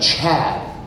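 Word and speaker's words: Choade: Oh, this is my son Chad, but it's C-H-O-A-D-E. The O and E are silent.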